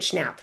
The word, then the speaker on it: Schnapp: Noah Schnapp. I'm pronouncing it Schnapp.